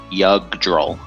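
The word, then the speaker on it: Jugdral: yes God forbid them now say it with me yug droll yug droll yugr J draw j j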